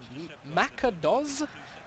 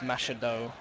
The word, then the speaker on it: Machado: It says Macados, but it's pronounced Machado.